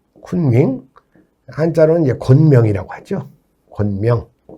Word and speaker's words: 쿤밍: 이 원난의 성도가 여러분들 그 쿤밍 들어보셨죠? 네. 쿤밍. 한자로는 이제 곤명이라고 하죠. 곤명. 그래서 이제 이 시안은 서안을 중국식으로 발음하면 시안. 그 다음에 청두를 중국식으로 하면 성도. 그 다음에 곤명을 중국식으로 하면 쿤밍이 됩니다.